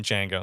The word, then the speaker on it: Django: oh uh the the the D is silent in Jango so I don't he's